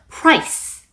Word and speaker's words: price: z 발음으로 마무리하시는 거고 price 가격은 s 발음으로 마무리하시는 거고 appreciate, recognition, challenges, creativity, obviously 이런 단어들이 보였네요.